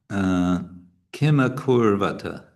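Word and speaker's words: kim akurvata: Okay, then we have Kimakurvata. So Kimakur, these are short vowels, and they are with a single consonant after the first one and after the second one.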